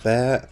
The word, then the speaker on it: Bär: question is of course the bear or bar however you want to pronounce it i believe it's pronounced bear but please let me know in the comments if that's incorrect it's a german tier